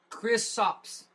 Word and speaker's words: Kristaps: It's Kristaps. Whatever. Kristaps Porzingis. How would you know how to pronounce it?